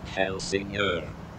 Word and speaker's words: Helsingør: At the moment I am in a place which I will let the voice over me pronounce for you. Helsingør.